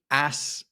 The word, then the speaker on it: ass: Ass I would spell A-S-S. Mm-hmm. But the thing is, I am from the north of England and I pronounce A-S-S always as ass.